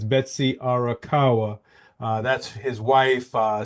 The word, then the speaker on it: Arakawa: uh Arawa sorry if I P pronounced her name wrong again it's Betsy arakawa uh that's his wife uh 63 years old